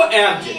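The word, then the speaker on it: eggs: देखो जो नियम है, जी के बाद यदि एस आता है तो काय का उच्चारण होगा, जा का। तो क्या पढ़ेंगे इसको, एब्ज।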